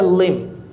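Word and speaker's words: limb: अब जी आ गया लिम, इसमें बी साइलेंट है, जैसे कि हम लैम के लिए यूज़ करते हैं।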